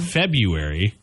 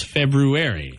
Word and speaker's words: February: February no it's not there's an r in there it's not a silent R there's two RS actually but it's the one after the B February how about the